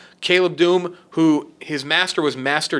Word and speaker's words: Dume: D-U-M-E or Dume, or I believe it's Doom. Caleb Doom, who his master was Master Depa Balaba.